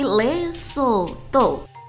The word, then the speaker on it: Lesotho: Lesotho diucapkan yakni Lesotho.